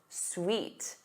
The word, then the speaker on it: suite: But the other word is pronounced suite. Suite. This is a set of